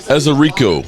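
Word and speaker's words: Ezeiruaku: How do you pronounce that last name? Ezerico.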